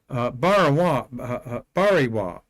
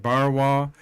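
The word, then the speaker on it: Barnawi: And the lady there is Rihanna Bariwa. Barn, it was how it's spelled, but the N is silent. Bariwa, and she is the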